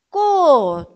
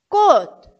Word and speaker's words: 꽃: As demais letras, quando estão sozinhas, como patim, têm som de T mudo. O som é simples e curto, como se nem tivesse sido pronunciado.